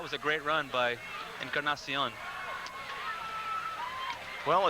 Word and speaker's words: Encarnacion: There you see him, Tony Encarnacion. It's the proper pronunciation.